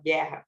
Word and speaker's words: guerra: u é pronunciado então outra palavra como guerra Vai ser um dígrafo porque a gente não escuta o a gente não fala guerra a gente fala guerra Então esse U não é pronunciado é um dígrafo então